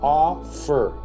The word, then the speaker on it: offer: Ejemplo, entonces, offer. El estrés está en a, no fer.